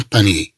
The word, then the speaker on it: panier: إذا نتكلم عن طائر من الطيور يسمى بهذا الاسم un panier IER في آخر الكلمة تنطق يي un panier.